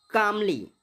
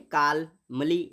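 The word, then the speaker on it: calmly: बढ़ो अगला क्या है कामली हा क्या कह रहा है ब एल अच्छा एल जो है ना एल यहां पर साइलेंट रहेगा इसको बोलेंगे कामली ठीक काल मली नहीं बोल सकते क्या बोलते हैं कामली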